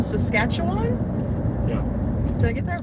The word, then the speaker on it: Saskatchewan: Daryl says hi from, let me see if I can pronounce this, hold on. Saskatoon, Saskatchewan?